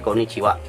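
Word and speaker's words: こんにちは: dibaca dengan Konnichiwa karena ha adalah partikel pernah topik gunung yang dipakai dalam bahasa Jepang kuno lebih lambat laun seiring dengan perkembangan zaman hak ini kemudian berubah menjadi Wak sehingga menjadi Konnichiwa tetapi ejaannya tetap tertulis kau ni kira kemudian jadilah Konnichiwa yang artinya Halo atau selamat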